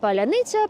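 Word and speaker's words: паляниця: It's called palyanytsia. Palyanytsia is actually Ukrainian bread, but we use this word as a password, because only Ukrainians can pronounce palyanytsia.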